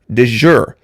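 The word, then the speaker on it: de jure: d e space j-u-r-e it's pronounced De Jour a lot of people confuse that with du jour meaning of the day like super du jour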